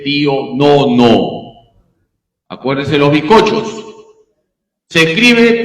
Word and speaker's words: Pío Nono: siempre me gusta explicar se dice pío no no Acuérdese los biscochos se escribe Pío romanos 9 Cómo se dice pío Nono ya así se dice pío Nono no se dice pío nu Cómo se dice pío